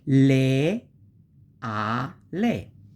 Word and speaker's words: leale: Leale is divided in syllable, and this syllabization of that is le, a, le. Amore, the word of love.